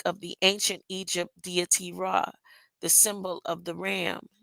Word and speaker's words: Ra: the ancient Egypt deity Ra, the symbol of the ram, deity of the sun, fertility, of life and growth, which is pronounced as ray, as the ray of the sun.